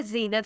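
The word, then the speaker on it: Zeenat: नाम है ज़ीनत फातिमा, नाम: ज़ीनत इसकी स्पेलिंग Z है।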